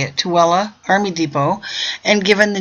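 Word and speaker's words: Tooele: the nearby tuella that's how you say it tuella Army Depot and given the new designation as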